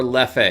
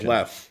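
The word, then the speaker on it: Leffe: the other during that no it's left all right absolutely left the second e is silent just like at the end of um ball b-a-l-l-e you pronounce that ball sure where it's left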